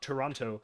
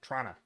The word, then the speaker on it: Toronto: Um they always make the joke that like Torontonians pronounce it not Toronto, but like Tronna.